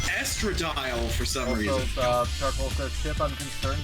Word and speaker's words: estradiol: you is called estradiol we thought it was pronounced estradiol because that sounds like a medicine because it is apparently it's pronounced estradiol for some reason i'm concerned with how fast